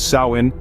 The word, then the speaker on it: Samhain: Traditions they left us samine stands out as a testament to their profound connection with nature and the spiritual World samine pronounced as sawin marked the end of the